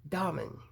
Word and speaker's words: Dahmen: was inspired by corey diamond and yes that is how you pronounce her last name she was kind enough to tell me it's like dominoes without the o's so it's domin okay so thank you